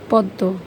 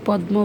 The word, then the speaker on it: পদ্ম: কিন্তু আমরা অনেকেই এটাকে ভুলভাবে উচ্চারণ করে থাকি বিস্ময় বলে। এরপর এটা হচ্ছে পদ্ব। কিন্তু আমরা অনেকেই পদ্ম বলি।